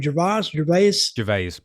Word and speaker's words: Gervais: Gervais.